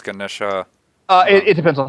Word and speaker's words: Ganesha: It is spelled with an A at the end, but it is often just said Ganesh.